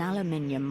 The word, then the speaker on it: aluminium: Around the back, an aluminium roll-up door shields the contents of the trailer. Aluminium. Love the British pronunciation of that particular rock.